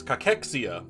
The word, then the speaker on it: cachexia: figured out how to how to pronounce this it's cachexia because it's a medical